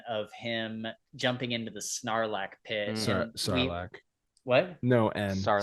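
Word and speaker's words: sarlacc: really yeah sarlac it you can call it sarlac as long as there's a silent G in there so it's like narac like snarl that's so Nar so Nar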